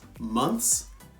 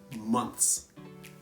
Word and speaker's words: months: many English students pronounce months as a two syllable word they say month as month as but that is wrong months is only one syllable months so it's hard but